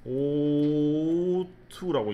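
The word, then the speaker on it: ought: O-U-G-H-T를 O-2라고 읽으면 돼요. O-T-T 이렇게 읽지 말고 O-2라고 읽으면 됩니다.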